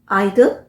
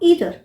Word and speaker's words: either: EITHER, आइदर और ईदर, दोनों ही pronunciation सही है। हम ये नहीं बोल सकते कि ईदर सही है या आइदर सही है, दोनों ही सही हैं।